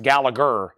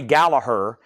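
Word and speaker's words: Gallagher: and I just found out recently it's not pronounced gallager Roy gallagur this is called calling card this is a Japanese pressing this is what I'm used to seeing near mitt minus and pristine Roy Gallaher it has the Japanese inner sleeve with it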